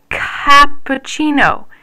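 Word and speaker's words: cappuccino: what about this one capucino that CA makes the C Sound again ooh but wait what else do we have here we also have a CH sound in the middle that's because when C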